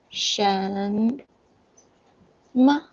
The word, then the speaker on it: 什么: Pronunciation is 什么.